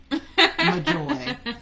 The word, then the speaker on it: Majoi: Majoi, but it's spelled so beautifully, Majoi, exactly how it sounds.